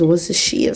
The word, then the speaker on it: Worcestershire: How do you pronounce this, guys? But I think it's Worcestershire sauce.